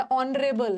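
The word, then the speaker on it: honourable: N sorry ये तो एच तो साइलेंट है ना एच साइलेंट है ऑनरेबल है आपको बोलना है ना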